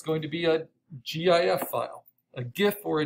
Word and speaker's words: GIF: it like the peanut butter jif but because it stands for graphic interchange format and graphic has a hard g i usually say gif it's going to go